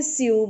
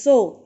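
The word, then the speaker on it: sew: next line we say su but likewise few here the word s e w is not a su it is so okay pronunciation is so some people are saying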